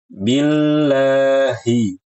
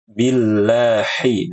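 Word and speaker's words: بالله: Dibuka billahi hi dengan ha besar. Jangan dibaca billahi dengan ha kecil. Ini keliru.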